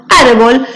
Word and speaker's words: árbol: ellas por ejemplo árbol si ustedes observan árbol se divide en dos sílabas ar y bold y bold es la última sílaba es la primera penúltima sílaba por lo tanto es una palabra grave y le tengo que poner tilde porque cuando yo la pronunció árbol me suena con mayor énfasis la sílaba ar que sería la penúltima por eso le pongo